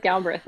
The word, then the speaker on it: Galbraith: It's probably supposed to be Galbraith, but we're from Kentucky. So we say Galbraith, like as if Ah, the second A doesn't exist, as if it's Brith.